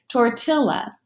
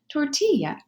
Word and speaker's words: tortilla: a word comes from if I look at this word and I try to read it using an English pronunciation I'm going to say torte illa but we all know this comes from the Spanish language and so it's pronounced tortilla next one if I